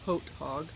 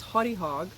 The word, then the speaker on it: Haute Hog: I thought it was Haute Hog, but they corrected me. This is pronounced Haute Hog.